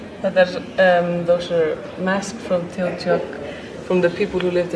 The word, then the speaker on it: Teotihuacan: How do you pronounce the name of the place? Teotihuacan.